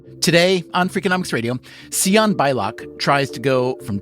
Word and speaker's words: Sian: And do you want to just explain why your name is Sian and not Shawn or something? It's spelled S I A N. Can you just explain the story behind that? It actually is supposed to be Shawn, but my parents named me Sian.